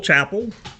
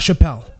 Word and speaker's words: Chappell: But I am Chappell. So not Chappelle. Yes, Correct. Okay, Chapel. Chappell. the E is silent.